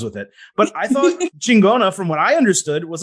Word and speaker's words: Chingona: Chingona, as long as it's pronounced right, it's good, powerful term for women.